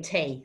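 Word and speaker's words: tae: day or sorry tea is by the way tay so there's a new word you drink tea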